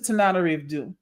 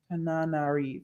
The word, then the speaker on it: Tananarive: This is Tananarive. Tananarive, yeah. I want to make sure you get the pronunciation down.